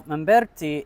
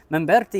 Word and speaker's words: Mamberti: Now, Mamberti is ethnically Italian. I'm pronouncing his name in the Italian way, but he is a French cardinal who was born in Morocco.